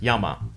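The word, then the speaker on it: 山: from looking at it, there's no way to know that it's pronounced as yama.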